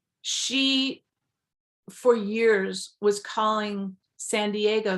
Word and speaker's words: San Diego: own example um she for years was calling San Diego San Deno so when she was younger than 11 and